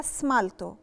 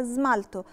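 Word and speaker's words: smalto: عليها كلمه كلمه كلمه مش هقولها سمالطو هقولها زمالتو زملته يعني طلاء الضوافر القاعده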